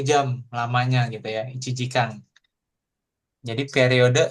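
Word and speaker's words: 一時間: I cijikang.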